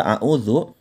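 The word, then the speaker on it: أعوذ: dimana itu pakai dak sedangkan huruf da dikalimat isti'adzah dikata a'udzu ini menggunakan titik ya Ndah jadi pengucapannya jelas terletak pada ujung lidah serta menempati dengan ujung dua gigi seri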